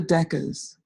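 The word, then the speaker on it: decas: and it's called a deca's it's a short poetic form that i created that deca's is related to decay deca the greek root of the number ten and so it's ten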